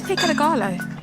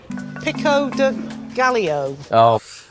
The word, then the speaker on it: pico de gallo: What's pico de gallo?